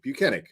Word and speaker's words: Buchanan: Buchanan. I got it right after a while, you know. I like really looked at it and I was just like, okay, the H throws you off, but it's Buchanan.